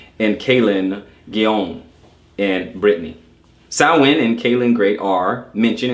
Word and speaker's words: Samhain: Samhain, pronounced Samhain or Samhain, it is spelled Samhain, but pronounced Samhain.